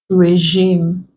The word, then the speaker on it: regime: We also have it in words that contain letter E, regime, fiance, like the male fiance, also pronounced, they are pronounced the same way.